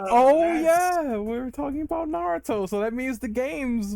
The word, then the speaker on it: Naruto: you said it right fin sir it is Naruto just like it is here we go oh